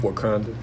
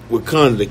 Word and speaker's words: Wakanda: I'm saying it right, Wakanda? Mm-hmm. Wakanda. Wakanda.